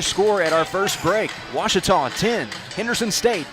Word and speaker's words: Ouachita: Back in Texas, everybody pronounces it Wichita, but really, it's Ouachita. Ouachita. Ouachita. How would you pronounce it? Ouachita. Ouachita. It's Ouachita Baptist University.